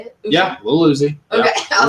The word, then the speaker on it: Lil Uzi: Yeah, Lil Uzi. Okay, yeah, Lil Uzi. Yep. Little and then Uzi like the gun.